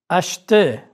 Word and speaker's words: acheter: R is not pronounced in the infinitive of ER verbs. Regardez. Acheter.